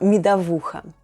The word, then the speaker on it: медовуха: Another popular drink among beekeepers is mead or МЕДОВУХА /myedavoohha/. Say it with me: МЕДОВУХА /myedavoohha/.